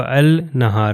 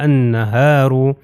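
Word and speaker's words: النهار: تلفظ نہیں ہوگا، یہ والا لام جو ہے تلفظ نہیں ہوگا، میں نہیں کہوں گا النہار، نہیں، یہ الف جو ہے اس کے اوپر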